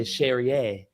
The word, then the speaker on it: Cherrier: I want to say Cherrier. Cherrier. Yes, you're saying it right.